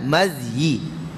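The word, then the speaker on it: مذي: Mazi dan berwuduk kerananya Mazi diucapkan dengan beberapa dialek jadi Mazi dalam bahasa Arab sendiri okey Dia ada beberapa sebutan yang paling fasih berkata Ibnu Hajar al-asqalani ni yang paling fasih adalah Mazi Cuba sebut Ha dia dengan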